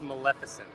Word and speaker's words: Maleficent: You're right, Patty, but it's pronounced Maleficent.